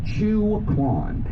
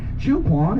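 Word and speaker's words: Chiu Quon: But let me talk about the crown jewel of Chinatown, and that is a small, cash-only bakery called Chu Quan. Chu Quan is spelled C-H-I-U-Q-U-O-N.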